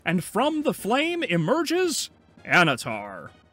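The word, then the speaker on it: Annatar: from the flame emerges anatar or anatar because these idiots pronounce the second n all right so we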